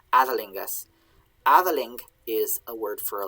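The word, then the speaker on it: æþelingas: we've had the word adelingus sorry i keep mispronouncing this because i see a thorn there but it's the sound adalingus avaling is a word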